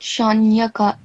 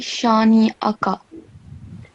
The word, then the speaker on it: شانئك: It's not shanyaka, it will be shani'aka. So make sure that you pronounce the noon with the kasra and the hamza with fatha properly and separately so that people can hear two distinct sounds.